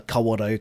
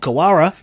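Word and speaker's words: Kawarau: make me feel really uncomfortable to pronounce you know the kawaro correctly you know all these other names let's grab that first one you said bro so uh what how was that one normally mispronounced oh kawara kawara kaurel kawarel yeah there's there's quite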